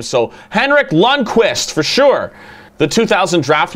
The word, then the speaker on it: Henrik Lundqvist: I've been getting creamed in the comments on how I'm pronouncing his name, so Henrik Lundqvist for sure.